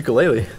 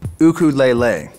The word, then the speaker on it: ukulele: and finishing your ukulele oh man nice to kelele thanks yeah built it myself hmm actually in Hawaii it's pronounced cuckoo lele you don't have to say Mahalo that one's